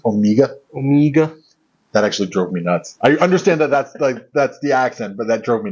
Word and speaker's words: Omega: I believe the correct pronunciation is Omega.